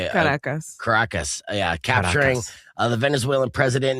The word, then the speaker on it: Caracas: Caracas.